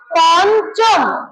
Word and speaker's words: পঞ্চম: এখানে যদিও ওকার নেই কিন্তু উচ্চারণে আমরা বলব পঞ্চম কি বলব পঞ্চম